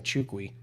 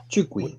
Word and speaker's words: Nchukwi: Oh, they're pronouncing his last name Nchukwi. Nchukwi. We were way off.